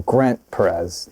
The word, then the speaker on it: grentperez: it's your name but then it's Grant yeah it's pronounced you know Grant Perez yeah all together like is that is